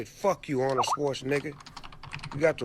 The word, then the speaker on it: Schwarzenegger: by She says Arnold Schwarzenegger. Schwarzenegger. Yeah, it's like Schwarzenegger. It's got an e. No, no, but you're very quiet at the first two syllables. First three syllables.